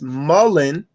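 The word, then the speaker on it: mullein: the comments or whatever it's mullen m-u-l-l-e-i-n as mullen do your research on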